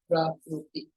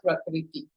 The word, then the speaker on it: Prakriti: In Sanskrit, we call it Prakruti. Prakruti or Prakriti, it is same.